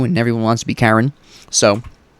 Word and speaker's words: Charon: everyone wants to be Karen. So... or Charon, or however you want to pronounce it.